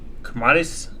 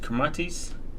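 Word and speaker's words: Kiritimati: its phonology in which the combination t is pronounced is kmatis Christmas kmatis is one of the world's largest atolls in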